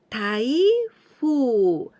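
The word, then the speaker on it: 台風: strong wind typhoon we say taifu with this candidate we just learned and here we pronounce Thai instead of die Thai food typhoon typhoons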